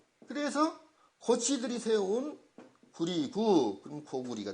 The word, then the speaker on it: 고구려: 그럼 고구리가 된 거예요. 고구려. 고구려라고 읽으면 안 되죠. 고구리라고 읽어야죠.